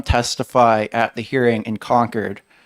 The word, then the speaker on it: Concord: saw I conquered and like conquered r as the state capital so that pun that pun really only works if you pronounce it correctly um and also one